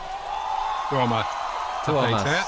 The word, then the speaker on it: Tuomas: Tuomas. See, that's how you say it.